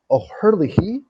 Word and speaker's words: O'Herlihy: O'Herlihy. Yeah, I believe that's how it's pronounced. That's how I believe I've heard it pronounced before.